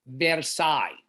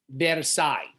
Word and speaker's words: Versailles: It's pronounced Versailles. The S is silent, Versailles.